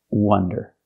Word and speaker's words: wonder: stop and we have the second word w Wonder with a closed short sound like cup and up they're different words and